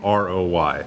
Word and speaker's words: Roy: There's someone on Team Canada named Roy, last name R-O-Y. Correct. He pronounces it Roy, and some people in Quebec are unhappy he doesn't pronounce it the French way.